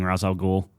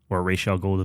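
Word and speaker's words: Ra's al Ghul: video of Batman fighting razal ghoul yeah Rael go depending on your pronunciation sure and it looks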